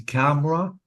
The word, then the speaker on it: camera: camera and family yeah so be careful because the vowels are deleted I cannot say C you have to say camera I deleted the e or the vowel letter and family I didn't